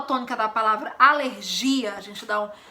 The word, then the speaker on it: alergia: a pronúncia é diferente em português a gente fala alergia alergia dando enfoque maior no gia dando essa sílaba tônica nos gia e em espanhol a sílaba tônica é no início fica aléria entendeu é